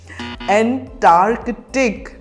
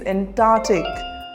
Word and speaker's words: Antarctic: on to our next word how do you pronounce this word antartic no the correct pronunciation is Antarctic repeat after me Antarctic the Antarctic region is